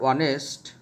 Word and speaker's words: honest: The students, the word honest begins with consonant H, but here the pronunciation of H is silent, and that's why we have to use N before the word honest.